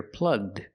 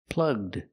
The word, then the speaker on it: plugged: And if we change the verb to past, we hear plugged. plugged The ED is pronounced with a D sound.